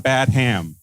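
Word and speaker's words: Badham: Dracula one time why why are you mispronouncing his name his name is John badam that is the name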